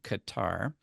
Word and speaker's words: Qatar: you guys settled on, Qatar, since despite it being not that close to the correct pronunciation, I'm pretty sure it's the most common way we Americans pronounce it, and it's at least, very least, going to be very clear to most of us what you mean.